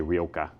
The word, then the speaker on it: Rioja: together and making a Rioa, which we love Rioa. You know, we love Rioa around here. We uh as the British say, Rioa.